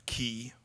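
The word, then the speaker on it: quay: kind of net a key you know you on you see how it's pronounced q q u a y key in know the little dock and then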